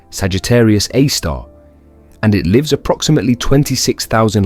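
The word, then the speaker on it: Sagittarius A*: Its name is Sagittarius AI, pronounced Sagittarius A star, and it lives approximately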